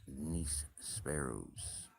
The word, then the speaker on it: nísperos: I forgot about one of my favorite fruits here in Spain, nísperos. Yeah, and it's spelt the way it sounds, nísperos.